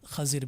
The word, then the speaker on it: خضر: علیہ السلام کہتے ہیں۔ یہ اس کی پروننسیشن جو ہے، اس کا جو تلفظ ہے، خضر بھی ہے اور خضر بھی ہے۔ تو اب